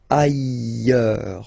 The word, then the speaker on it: ailleurs: Look, final S not pronounced, and then you've got this y sound. Ailleurs.